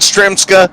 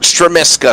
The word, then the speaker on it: Stremiska: I want to say it's Stremiska. I was told that it's not Stremska. We butchered his name all last week is what we were told. I'm being told it's Robert Stremiska.